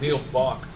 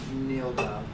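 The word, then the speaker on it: Nilbog: So I thought it was Neil Bach. it's Neil Gob.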